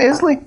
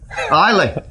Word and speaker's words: Islay: He's the peatiest dog in Islay. Isla. I say it like an American, which is wrong.